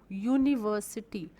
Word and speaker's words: university: U, university. We pronounce it as U, Y-O-U, U.